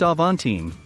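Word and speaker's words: Avantime: one box weirdo called the aventine pronounced avon team its two massive doors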